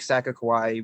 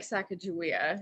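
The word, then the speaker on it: Sakakawea: So our very last lunch, we take at this like Lake Sakakawai, where you follow the shoreline to the end. So you're hugging the shoreline of the lake for a while. It's actually called Lake Sacagawea.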